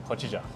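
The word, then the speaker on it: hojicha: How do you pronounce it? Hojija.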